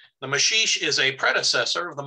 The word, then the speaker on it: maxixe: the tango so the masheesh um the apparent uh mismatch between how that word is spelled and the way it's pronounced is due to its brazilian roots it's a portuguese word the mashish is a predecessor of